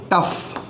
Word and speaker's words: tough: Letter combination है और पूरा शब्द है TOUGH, जिसे आप पढ़ेंगे टफ। टफ मतलब टी को हटा दें तो हमारा जो OUGH का प्रोनाउंसिएशन है वो अफ होगा, अफ।